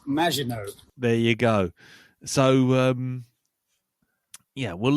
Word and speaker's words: Maginot: And always remember, it's pronounced Maginot.